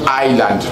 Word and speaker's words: island: Non, l'île, une île ne se prononce pas en anglais comme Irlande. Non, on dit island, le mot là. On dit island. Ok, island. C'est comme ça le mot là doit être prononcé.